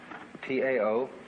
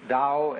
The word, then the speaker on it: Tao: T-A-O, pronounced Dao in the Mandarin dialect, Tao in the Shanghai dialect, To in the Cantonese dialect.